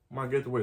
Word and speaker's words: Magatte Wade: Magatte Wade, that's what her name is pronounced.